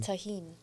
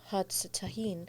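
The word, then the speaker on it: Tajín: you would cuz yeah in Mexico they they sometimes pronounce the J's like H instead of tahen I don't know whatever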